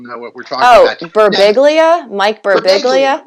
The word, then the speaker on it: Birbiglia: Brigubla, something. The guy who wrote Sleepwalking. Oh, yeah. I can't pronounce it.